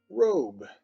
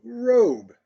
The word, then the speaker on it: robe: o a long o and we have words like robe and with that e it is a long o robe as well and other